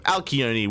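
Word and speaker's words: Alcyone: Alkione, we have the South Korean Zerg player representing Onside Gaming, as this is a team kill.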